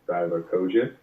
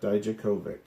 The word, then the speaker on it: Dijakovic: week, and yeah, it was him versus Dominic Divakovic. Is that how you pronounce that? Dijakovic.